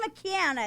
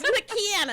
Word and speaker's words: McKanna: McKanna is here. Yes, McKanna.